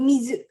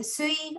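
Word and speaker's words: 水: Nah, Ini cara bacanya itu mizu. Mizu. Mizu, terus ada sui, ada oh ya, kunyominya mizu dan onyominya adalah sui.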